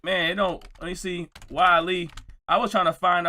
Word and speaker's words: Wale: this stuff, I'm like, man, let me see, Wale. I was trying to find out everything about the thing that's going on by Wale. And everything that was saying, wait. Why? Oh, Wale!